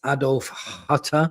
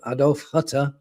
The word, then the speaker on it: Adolf Hütter: So, talking about the last one that we want to save us, and that's Adolf Hütter. I said it right that time. Adolf Hütter.